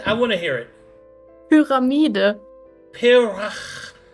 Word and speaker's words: Pyramide: Pyramide?